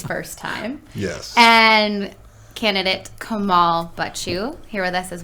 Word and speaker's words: Kamal: my name is if you want yes yeah pronounce it correctly is kamal and uh yeah that's how you you say